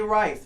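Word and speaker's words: Wrice: this enough right so whatever I say rice my last name is spelled with a W so it's WRIC e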